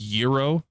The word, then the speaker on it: gyro: It's pronounced gyro, and it's Greek food.